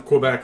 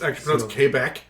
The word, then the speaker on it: Quebec: kidding I ripped on Kobach like ten episodes ago you guys like Adam you can't do that um it's actually pronounced Quebec it's kbecque my inner white guy